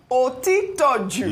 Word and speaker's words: Otitoju: Otitoju.